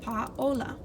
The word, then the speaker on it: Paola: So something that I've taught people when they say my name is to say paw, like a dog's paw, and then ola. And that gives you Paola, which is much closer than Paola and very much closer to Paola.